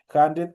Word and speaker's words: hundred: Hundred, obviamente ustedes ven que está escrito con una H, y esa H obviamente es una H expirada que el momento de pronunciar se transforma en una J. Entonces es importante por eso el momento de mencionar, obviamente ustedes ven que yo le digo hundred, es como que ahí estuviera una J, ¿no es cierto?